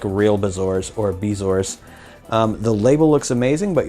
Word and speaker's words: bezoar: Anyways, she says, I Googled it to see what it really was, and it says it's Bezoar instead of Bazaar is what I was pronouncing it.